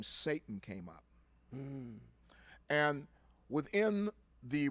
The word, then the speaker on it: Satan: construct construct that's called Satan yes it's not pronounced Satan it's pronounced Satan and in the Hebrew writings it's never by